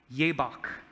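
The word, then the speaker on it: יבק: connection between these threes this is how you say jaybach ye bak this is how you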